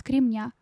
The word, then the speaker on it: кремня: Насчёт кремня. Ну, тут, правда, уже без вариантов, но да, без кремня. Правильно. Ударение ставит на последнюю букву.